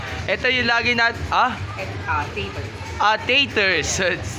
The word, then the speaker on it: Taters: si sir Neil from tatters entertainment snacks ito yung lagi ers ah taters Thank you for your correcting my pronounciation taters entertainment stocks kasi ang una ko nga sinabi tatters e Okay bati ka muna